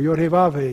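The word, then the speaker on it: יהוה: The Lord Yahweh, God of hosts, or Yod-Heh-Vav-Heh, just pronounce the letters as some rabbis do.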